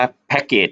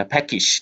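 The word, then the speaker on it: package: คน มาก ๆ ค่ะ อ่าน ว่า แพ็คเกจ จริง ๆ แล้ว แพ็ค ติด นะ ครับ ก็ จิรณัฐ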